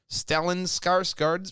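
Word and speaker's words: Stellan Skarsgård: to the swedish news site diggins ninth tur stellen skarsgard revealed very swedish what a name you know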